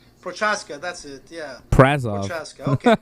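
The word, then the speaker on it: Procházka: Prazov. P-R-A-Z. Yeah, Z. He's from Czechoslovakia. His name is, it's like Prochaska. Prochaska, that's it, yeah. Prazov.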